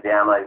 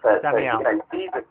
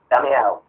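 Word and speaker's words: Damião: We seem to have been linked with Leandro Diamo for, or however you pronounce his surname, I'm not certain. Damiao. And he's Damiao.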